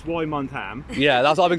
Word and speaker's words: Wymondham: Well, how do you pronounce it? Wyndham. I know. Wyndham. Yeah, okay. Tell me about it. So it's Wymondham.